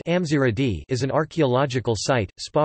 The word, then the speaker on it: Gamzigrad: Gamzigrad, Gamzigrad pronounced Amziradi, is an archaeological site, spa resort and UNESCO